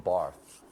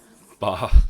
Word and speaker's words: Barthes: Barth. Barth. The S is silent.